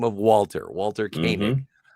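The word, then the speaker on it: Koenig: Kanig is the last name of Walter. Walter Kanig.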